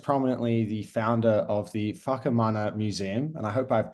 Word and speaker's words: Whakamana: From across the ditch, we have New Zealand's foremost cannabis activist slash enthusiast, but most prominently the founder of the Whakamana Museum. And I hope I've pronounced that correctly.